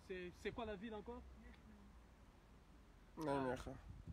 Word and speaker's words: Nijmegen: Nijmegen. Nijmegen. Nijmegen. C'est difficile à prononcer, mais ça s'écrit Nijmegen.